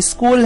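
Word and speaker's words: school: ना, जैसे change, right, लेकिन यहाँ पर जो स्कूल है उसमें सी की आवाज को की रहेगी, इस तरह हम कह सकते हैं कि स्कूल में जो लेटर एच है वो साइलेंट लेटर है।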